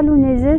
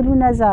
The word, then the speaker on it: Lughnasa: Donc, alors, parce que j'ai un ami irlandais qui m'a téléphoné et qui m'a dit non, non, c'est pas Lunese, c'est Lunasa.